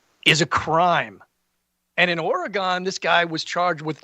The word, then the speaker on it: Oregon: Uh if you ask any local in Oregon, they'll say it's pronounced like oregano.